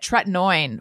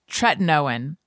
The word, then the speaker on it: tretinoin: it is i'm getting i was calling it tretinoin for many months no one corrected me it's tretinoin it's generic retin-a i've been using it i'm